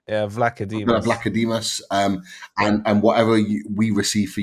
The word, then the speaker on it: Vlachodimos: I do think, regardless of whatever fees we get for your goalkeeper, is it, how do you pronounce his name? Vlachodimos. Vlachodimos.